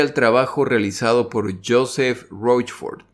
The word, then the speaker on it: Rochefort: El nombre de este señor no se dice Roquefort, como lo he estado diciendo yo. Resulta que el nombre del señor se pronuncia Rochefort.